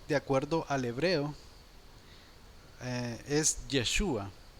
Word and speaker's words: Yeshua: pero el original de acuerdo al hebreo es yeshua o algunos lo pronuncian como yeshua ahora de acuerdo a los textos del nuevo